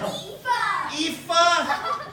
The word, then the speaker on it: Aoife: Aoife. How do you spell that?